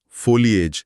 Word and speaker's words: foliage: इसका उच्चारण फोलिएज जैसा है।